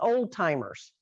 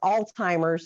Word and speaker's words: Alzheimer's: both in texas and new jersey is often mispronounced as old timers and if there is something out there called old timers what happens when i get old so it's alzheimer's it's the name of the doctor that discovered